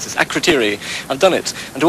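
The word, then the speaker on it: Akrotiri: Now, do I remember how to pronounce this? Akritiri.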